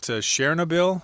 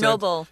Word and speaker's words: Chernobyl: I think the worst one was at Chernobyl. Is that how you pronounce it? Chernobyl.